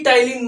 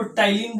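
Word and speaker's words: ptyalin: अब पी टाइलिन मत पढ़िएगा, इसको टाइलिन बोला जाता है, पी साइलेंट होता है।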